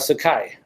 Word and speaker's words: Sakai: How about Sakai?